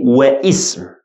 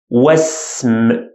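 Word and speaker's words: واسم: I said was, was. I didn't say wa ism. No. Wasm, wal, wal.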